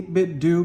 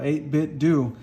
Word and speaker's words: 8BitDo: Geo wireless controller and I did say 8-bit do because that's how you're supposed to say it's like Scooby-Doo um so just it feels very uncomfortable but that's the proper way to pronounce it uh 8-bit do but